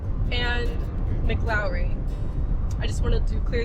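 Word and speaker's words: McLaury: I also wanted to add that I've been pronouncing Cochis and Mcllori wrong. It's actually co cheese and mlowry.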